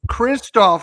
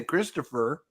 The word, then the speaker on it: Kristoff: your name pronounce it I would normally say Christopher right but he says everybody calls I heard that yesterday that Tony and you guys were talking and he's like oh it's Kristoff so I knew how